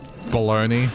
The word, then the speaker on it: bologna: words like... baloney, or at least the way they pronounce it. But then it's spelled Bologna.